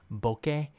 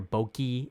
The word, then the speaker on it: bokeh: your camera is pronounced bokeh, which is the Japanese word. It's a Japanese word because most of the camera makers are Japanese, by the way. So when I hear boki and boka, I was like, it's like bokeh, but that's okay.